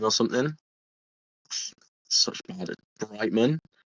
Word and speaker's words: Alex Brightman: I'm going to mispronounce his last name so much. Alex like Bridgemond or something. Such bad Brightman.